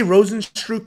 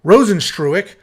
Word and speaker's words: Rozenstruik: have jarzinho Rosen stroke I say rosenstrupe but he just tweeted exactly how to pronounce it I think it's trueick yeah rosenstruick taking on jolten Almeida boy